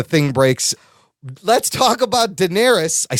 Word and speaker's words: Daenerys: and then the thing breaks let's talk about Daenerys I said it right thanks to the hollow yeah yeah you didn't correctly listen I don't correct you when you say Denarius wrong he says darksied I just don't I